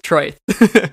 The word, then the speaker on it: Troith: I think that's how you pronounce it, Troith, right? That's how I pronounce it. I Perfect. Don't know how the audiobook pronounces it. Awesome. So we're going with Troith.